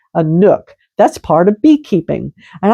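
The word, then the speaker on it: nuc: By the way, do you know what a nook is? That's spelled n u c. A nook.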